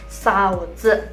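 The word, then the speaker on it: 嫂子: Untuk sebutan ipar perempuan, kalau misalnya kakak laki-lakinya teman-teman punya istri, kita panggilnya saozi.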